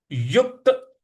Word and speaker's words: युक्त: इस प्रकार से बोलेंगे उसके बाद है युक्त युक्त यहां पे युक्त युक्त पे हल्का सा बल लगाना है युक्त आसीत मत परह